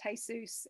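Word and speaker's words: Jesús: who have that name it's pronounced jesus in spanish but just a quick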